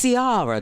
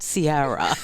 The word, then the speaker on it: Ciara: And so they said, it's Ciara, darling. It's not Ciara.